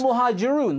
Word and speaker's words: Al-Muhajiroon: You can't even pronounce the name of the group that you've mentioned. It was routinely the case. It's Al-Muhajiroon.